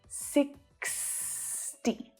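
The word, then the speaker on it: sixty: X, 60, 60. That last syllable is very short and very fast.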